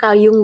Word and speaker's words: Carl Jung: Nah ini kayaknya Bu Nurul ini yang kenal ini, siapa itu Carl Jung itu? Siapa Bu itu Bu? Halo, halo. Kalau kita bacanya Kalyung, Pak.